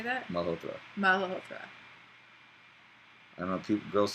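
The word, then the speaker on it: Malhotra: it in an American way so people can pronounce it. Uh-huh. Siddharth, how do we say that? Malhotr.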